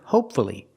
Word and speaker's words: hopefully: Fu l l y if there's only one syllable before Fu l l y pronounce the U hopefully and now we